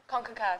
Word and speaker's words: CONCACAF: CONCACAF, yeah. CONCACAF. So that's how you pronounce it.